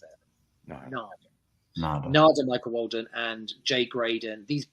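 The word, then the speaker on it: Narada: Yeah, what's interesting about some of these people, like Nada is actually how you pronounce it. Nada, Michael Walden, and Jay Graydon, and Greg Matheson.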